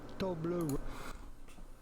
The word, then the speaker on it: Toblerone: Be pronounced with a French pronunciation, therefore Toblerone.